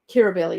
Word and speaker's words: Kirribilli: Kirribilli, yeah. Is that also spelled Curr? No, that is spelled. Kirribilli is Ki double R, I think. That makes more sense to me to say it cur, Kir, cur.